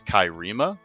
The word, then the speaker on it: Cairema: But the name I came up with is Kairima, which is like an anagram for America. How do you So spell that?